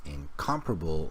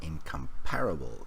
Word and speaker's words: incomparable: And then the pronunciation of this word is incomparable, not incomparable, even though the spelling doesn't look like that.